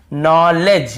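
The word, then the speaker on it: knowledge: यहां पर भी देखिए नॉलेज यहां पर भी दी साइलेंट है यहां पर नॉलेज तो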